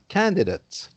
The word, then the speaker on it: candidate: Now, if it's a noun, for example, a candidate, then once again, the ate is not pronounced ate like in the verb, but it's pronounced ut like in the adjective.